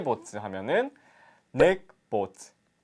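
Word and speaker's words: нэг: 넥, 허열, 고롭, 두룹, 타옵. 네, 1부터 5까지 발음을 닉, 허열, 고롭, 두룹, 타옵 이렇게 얘기를 합니다.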